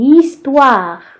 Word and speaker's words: histoire: Une histoire. La lettre H est une lettre muette. Il se voit, mais il ne se prononce pas.